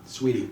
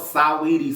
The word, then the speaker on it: Saweetie: Sweetie. I know what it is. That is a beautiful woman. I'm going to speak it how it's spelled. The shit spelled Saweetie, so the bitch gonna get called Saweetie.